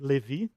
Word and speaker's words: Levi: so I created Levi in Portuguese we say Levi okay the pronunciation it's